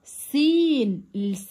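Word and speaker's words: scene: معناها فلات طيب مشهد سين هنا لا ما بنطقش صوتها سين طيب ظل شادو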